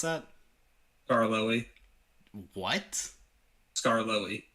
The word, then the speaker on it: Scarloey: How do you pronounce that? Scarloey. What? Scarloey. Scarlily.